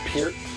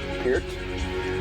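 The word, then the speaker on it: Peart: And this CD was produced by Neil Per or Pier, I should say, how you actually say his name. There you go. produced by Neil Pier.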